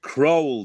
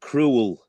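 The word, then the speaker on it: Crowle: Uh there's been a few, hasn't there, Lincoln, but New Boys and Bob, it's Croll, not not Cruel. Cruel cults.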